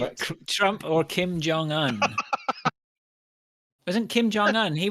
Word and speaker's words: Un: Un is the young. Un Un's sounds the current, yeah. rhymes with young.